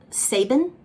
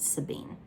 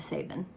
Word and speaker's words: Sabin: the demon of doubt saban okay it's another thing i know y'all are gonna come for me because when i read the book i pronounced it sabine in my brain i can't